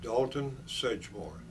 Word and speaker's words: Dalton Sedgemore: um pronounce your uh full name and uh spell it for us please okay uh my name is Dalton sedore that's d a l t o n uh